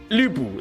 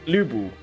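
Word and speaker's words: Lü Bu: actually say the I it's actually the Lee but your mouth shapes like a u like how do I say it lubu that's how you pronounce it lubu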